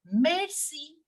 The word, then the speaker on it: merci: you so we will we will not pronounce it like English it is not mercy no mercy in English in French we pronounce it as Mercy Mercy not Mercy Mercy okay merci Goku again the p